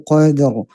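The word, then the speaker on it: قدر: sini ya alhamdulillah ee hati-hati ya qadrnya itu jangan dipercepat Qadr Lailatul Qadr Qadr mengalir Qadr Qadr ya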